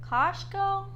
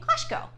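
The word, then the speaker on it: Kościuszko: let's start first with how do you actually say his name kashko if you have problems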